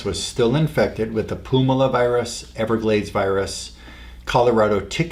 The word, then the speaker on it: Puumala: So I found in this August visit, lungs had the Colorado tick fever virus, California encephalitis virus, Pumala virus, if I pronounce that properly, P-U-U-M-A-L-A, Pumala virus.